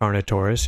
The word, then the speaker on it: Carnotaurus: Carnotaurus. Carnotaurus, yeah.